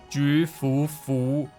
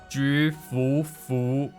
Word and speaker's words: Jufufu: Her name is pronounced as Jufufu, Jufufu.